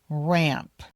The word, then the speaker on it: ramp: You need to make sure you say the ending of the word, the P. Otherwise, it will sound like the animal ram. So, make sure you say ramp.